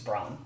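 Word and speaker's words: Bronn: is John John okay my number three rhymes with John it's Bron see Bron is one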